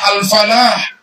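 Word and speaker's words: الفلاح: Kalau bertasydid al-falah artinya petani. Kalau tidak bertasydid bacanya al-falah artinya keberuntungan.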